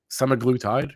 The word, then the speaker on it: semaglutide: drug inside of these uh treatments are uh semaglutide right that's how you say it so hims